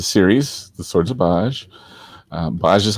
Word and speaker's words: B'ajj: it it's a series the swords of baj baja is how it's pronounced and actually baj is a conglomeration of